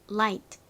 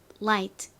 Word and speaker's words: light: 있었죠 전등 또 가볍다라는 의미도 있습니다 따라해 보세요 light light 그리고 다음 단어이 단어의 의미는 뭐였죠 싸우다라는 의미였습니다 발음 따라해 보세요 fight fight 그리고 다음이 단어의